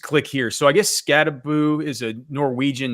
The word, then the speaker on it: Skattebo: It's Skattebo is how you say Skattebo in Norwegian.